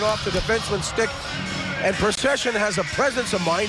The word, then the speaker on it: Precision: truly ridiculous one because the man's name is literally Precision although apparently he pronounces it procession well with 20 goals